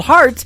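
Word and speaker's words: Harte: It is H-A-R-T-E on her last name, and that is called Heart in Two Places. Yeah, just like your heart. That's how that's spelled.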